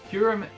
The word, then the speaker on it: Kyurem: If you haven't seen the Pokemon movie, Kyurem, I'm pretty sure that's how you pronounce it.